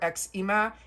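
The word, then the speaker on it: Xima: I would pronounce this just uh Christina or XMA. It's X I M A.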